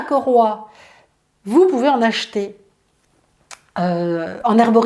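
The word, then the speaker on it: 葛花: Donc ça s'appelle koroi. Ça s'écrit G-E, plus loin H-U-A, koroi.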